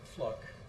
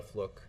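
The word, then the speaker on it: Fluke: Fluck, I believe is the correct pronunciation of her name, appeared on the Andrea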